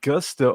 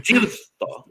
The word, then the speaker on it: giusto: I said something like gusto or something. No, it's giusto.